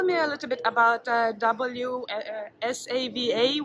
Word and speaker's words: WSAVA: Would you would you tell me a little bit about W Savva, which I cannot pronounce because we say just V was. Well, actually, I just say Wasava as well because it's so much easier.